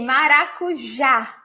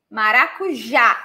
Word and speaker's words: maracujá: Maracujá. Maracujá. And the stressed syllable is the last one. So take a look to this here. Maracujá.